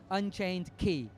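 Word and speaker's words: Unchained χ: the pronunciation of that because that's important it's pronounced Kingdom Heart pass Unchained key and it looks really cool so I hope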